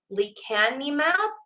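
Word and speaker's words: lecanemab: a while now um it says Alzheimer's drug Lee can me map I hope I'm pronouncing that right um it's l-e-c-a-n-e-m-a-b slows cognitive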